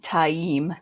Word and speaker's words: Taim: It is Taim. My strategy kind of worked because it got Steve to say it wrong. Thanks. Yeah, you're welcome. This is still one that he's always going to be Mazrim Taim. It's Mazrim Taim. It's just Taim.